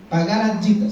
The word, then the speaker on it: Bhagavad Gita: Bhagavad Gita se pronuncia.